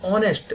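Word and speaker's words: honest: Rajendra is एन ऑनेस्ट officer. अब देखिए ऑनेस्ट है तो उसमें एच लगा हुआ है। तो यहां पर ऑनेस्ट में एच साइलेंट होता है।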